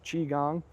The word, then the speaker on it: Qigong: So the martial arts community refers to energy training as Qigong. This is one word, but it's spelled Qi, so it's Qi. It looks like Qi, but it's pronounced Qi. Gong like you hit a gong, so G-O-N-G.